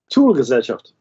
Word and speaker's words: Thule-Gesellschaft: The Thule Society, originally can you pronounce it for me, Becky? Thule-Gesellschaft.